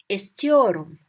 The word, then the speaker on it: istiyorum: I want in Turkish, remember the story of Esther. Esther, I want you to clean your room. Your room. So istiyorum. Esther, your room. Esther, your room becomes istiyorum.